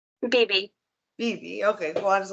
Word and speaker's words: BB: You pronounce it BB or baby? BB.